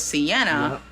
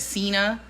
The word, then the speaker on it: sienna: The word was sienna. And his best attempt at like, before I finally like, you know, felt bad for him and told him how to pronounce it, he said Cena.